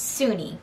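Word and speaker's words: Soon-Yi: and by the way it's e not ye by the way apparently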